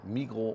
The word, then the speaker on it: Migros: rauskriegen woher sind und auch Migros heißt Migros nicht Migros wie es am Flughafen in Zürich heißt mit den S das wird nicht ausgesprochen Mikro und Co na ja